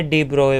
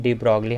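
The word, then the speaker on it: de Broglie: इसे डी ब्रोए वैसे बोलते हैं, मैं भी इसे शुरू में डी ब्रॉगली हाइपोथेसिस बोलता था, लेकिन ये इसका एक्चुअल प्रोनाउंसिएशन होता है डी ब्रोए।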